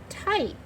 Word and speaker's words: type: We don't hear that E. Type. See where that Y is in the middle? So when the Y is in the middle or the end of a one-syllable word, it's going to say I.